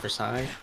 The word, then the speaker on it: Versailles: for satan's first elite versailles yeah it's french there's a lot of silent letters yeah it's just for